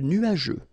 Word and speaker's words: nuageux: Remember, final X here, not pronounced.